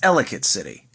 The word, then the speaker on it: Ellicott City: Number 4 place to visit in Maryland is, now, non-Marylanders will pronounce it at first Ellicott City. It's Ellicott City.